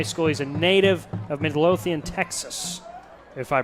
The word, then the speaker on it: Midlothian: he had 3 300 yards passing just about during his senior year of high school he's a native of midlothian texas if i pronounced that right you did nice went to